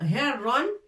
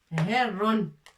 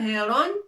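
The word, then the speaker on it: هِرٌّ: Mais c'est pas heron, mais herron. On est obligé de rajouter shidda pour appuyer sur la lettre ra.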